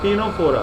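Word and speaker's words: Ctenophora: See again silent है बेटा, तो pronunciation is a important thing, बहुतों को नहीं आता है। टीनोफोरा, अगर प्रोनाउंसिएशन सीख गया तो बायो सीख गया, सबसे इंपॉर्टेंट बायो में।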